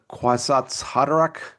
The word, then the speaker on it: Kwisatz Haderach: And how would you pronounce the Messiah? The Kwisatz Haderach?